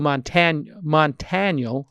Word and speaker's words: Montaniel: And his name is Joel Montaniel, like Daniel, but with a T.